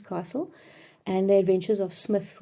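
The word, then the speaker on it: Psmith: and the adventures of Smith with the silent P but um it's definitely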